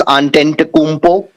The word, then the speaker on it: Antetokounmpo: actually his official nickname, Giannis Antetokounmpo. It's a correct pronunciation.